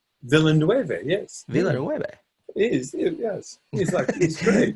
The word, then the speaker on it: Villeneuve: really the trailer is dropped for, you know, Villeneuve, or you know, you pronounce it better than I. Villeneuve, yes.